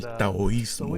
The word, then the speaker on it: taoísmo: Claro, esta lección, la número 13, trata del taoísmo. Y hemos estado bromeando con Kirk para que pronuncie bien la palabra.